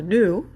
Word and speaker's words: gnu: And then there's an animal called a gnu, and it's spelled G-N-U, and then new, like not old, but new.